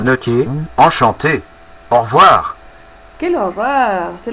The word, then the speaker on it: enchanté: Et finalement, on écrit enchanté, encantada. Yo voy a agregar una E más porque soy mujer. Enchanté. Écoutez la prononciation. Enchanté, enchanté, ça ne change pas. No cambia para el femenino y el masculino, pero sí en el escrito tiene que aparecer.